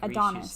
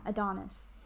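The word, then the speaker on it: Antonis: o n i s it's spelled like anthonis but you say it like adonis yeah exactly yeah adonis that's cool any greeks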